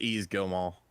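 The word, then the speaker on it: Yves Guillemot: you how do you say ease easy it's easy go Mall okay good all right that's that's what I've been saying I think or I said Guillermo gilmo either way I said you I he said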